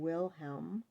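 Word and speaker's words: Wilhelm: Jacob and bhel Grim English pronunciation is Jacob and willhelm Grim their stories were published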